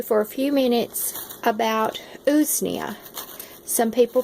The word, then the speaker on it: Usnea: I wanted to talk to you for a few minutes about Usnea. Some people pronounce it Usnea, but it is a type of lichen that is commonly found everywhere.